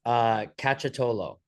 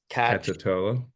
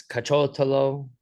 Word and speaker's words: Cacciottolo: Cacciottolo, like Cacciottolo. Tolo, like cacciato foot. Low. Yeah, low. Like yeah, it looks way more intimidating than it actually is. Apparently in Italy, it's cacciotolo, accent on the second syllable, but Right.